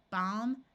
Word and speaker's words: balm: the L is silent in this column I have words ending in Al l m the a will have its broad sound of a and the L will be silent here we have calm